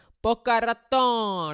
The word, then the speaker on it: Boca Raton: Boca Raton, that's how you say it.